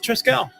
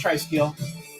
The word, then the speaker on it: Triskiel: We'll just keep going with Triskel. Or Triskiel, sorry. It is pronounced Triskiel. We have been notified.